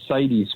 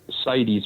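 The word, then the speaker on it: CITES: filed what's called a cities permit it looks like it's spelled sites but basically it's pronounced cities permit and it's a government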